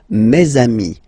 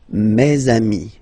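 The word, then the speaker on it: mes amis: And then let's be purist and make this beautiful le between these two words. Meami. Meami.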